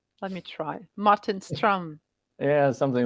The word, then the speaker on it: Martin Ström: speakers would pronounce it Martin stro but uh if you happen to speak Swedish it would be Martin strum which is um somewhat different let me try Martin strum yeah something like that